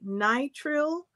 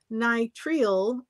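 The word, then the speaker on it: nitrile: doesn't not at all so apparently you're allowed to say nitril nital or nit trial all of those according to the dictionary are acceptable pronunciation okay so no answer thank you so you could say nitr or nitril I say nitril because I pronounce everything with just hard English that's allowed nit nit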